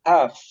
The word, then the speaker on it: half: what L is silent the L is silent before the final letter half half Bravo final example one